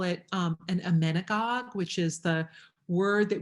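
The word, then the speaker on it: emmenagogue: category we can also call it um an amenigog which is the word that we use a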